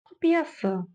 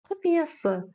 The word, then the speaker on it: құпиясы: Мы видим букву «ы» и вспоминаем, что буква «ы» в казахском языке читается очень и очень кратко. Это твердая и коротко звучащая буква. Да-да-да. Құпиясы. Құпиясы.